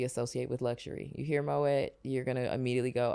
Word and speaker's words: Moët: Hennessy it's Moet Hennessy lots of us like to pretend that that's pronounced differently but it is actually Moet and we say moay no way no way